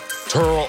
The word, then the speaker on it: Terrell: do it at wide receiver hall of famer turo owens t.o is in the top three i